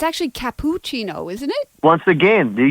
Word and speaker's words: cappuccino: It's capuccino. Capuccino. So each syllable has to be uh stressed always, you know, like I